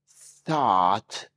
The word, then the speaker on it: thought: Thought rhymes with caught.